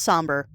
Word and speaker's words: Sombre: So, it is pronounced somber.